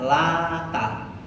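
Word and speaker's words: اللات: Sampean tahu Lata itu cara bacanya 2. Cara bacanya itu taknya tanpa tasdid sehingga Lata. Yang kedua bacanya taknya pakai tasdid, jadi Lata. Boleh, ya. Jadi mau baca afara'aitumul lata tanpa tasdid boleh, atau ditasdidkan afara'aitumul lata. Dua-duanya benar karena dua-duanya juga sesembahan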